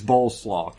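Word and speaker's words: Bolesław: It's spelled just like coleslaw, but it's Boleslaw.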